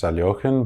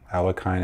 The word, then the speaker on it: Alekhine: player alexander alekhine uh his name is actually pronounced taliocan but alakine is what most people recognize so say it